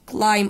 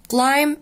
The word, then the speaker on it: climb: Climb on my nose. تعالوا نشوف. Climb الباء هنا silent. نطق climb.